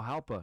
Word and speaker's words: Jalpa: You know Jalpa, that? Zacatecas? Yeah. Yeah, I've been there. Am I saying it right? Yeah, Jalpa.